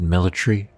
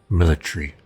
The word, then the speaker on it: military: trousers helmet military jacket i said military because that's how they pronounce it in great britain this is taking place